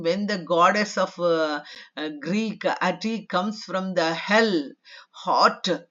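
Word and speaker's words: Ate: No ti ati it is pronounced and in some pronunciation it is also called ati. It is a Greek word.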